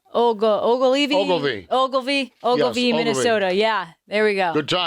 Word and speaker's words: Ogilvy: Ogilvy, Minnesota.